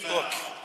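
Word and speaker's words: Ouck: Kamari Ook picks up her second O-U-C-K, pronounced Ook.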